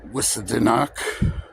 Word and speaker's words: Housatonic: think that is, or housatonic. Housatonic! Oh! And other names. It was later spelled Housatonic, which is the correct way to say it, because I went to Housatonic.